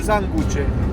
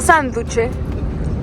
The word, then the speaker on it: sanguche: Se dice sanguche. Sanguche, no sanduche. Sanguchito. Aquí en Argentina le dicen sanguchito con la G, no sanduche como en Colombia con la D.